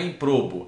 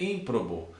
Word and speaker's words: ímprobo: Ó, ímprobo, não é improbo, é ímprobo.